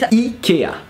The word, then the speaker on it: IKEA: So in French we pronounce it Ikea. And this is basically because there's a massive E.